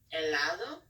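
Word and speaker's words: helado: um next we have elado uh which means ice cream and since we have H in the front you wouldn't pronounce it and so you would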